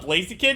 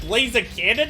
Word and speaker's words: Blaziken: ever had was uh blaziken because the way my friend kept pronouncing him back i wasn't playing pokemon yet but he kept pronouncing it as like blaze of cannon and i thought it